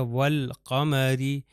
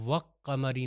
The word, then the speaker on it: والقمر: اس کو میں وقمری نہیں کہہ سکتا، یہ نہیں ہے کہ لام کو تلفظ نہ کروں قاف کے اوپر شدہ دے دوں، وہ حروف شمسی میں تھا، حروف قمری میں ایسا نہیں ہے.